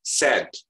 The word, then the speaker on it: sad: Cuman dia AE itu jadi agak sengaunya ke E. Sad, sad, sad. Tidak sad tapi sad. Jadi ada AE-nya beririsan simbol ini. Ini hampir mirip dengan pengucapan I have ya. I have. Jadi dia AE-nya itu disengau. Jadi tidak jelas A dan tidak juga jelas E. Perpaduan antara AE.